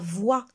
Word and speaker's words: voix: sens ou bien la voix la voix vous voyez que voit se termine par x mais on ne prononce pas la lettre x mami a une belle